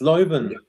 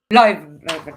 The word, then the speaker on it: Leuven: Leuven. Belgium team. How do you pronounce it? It's Leuven. Yeah. Leuven. Okay.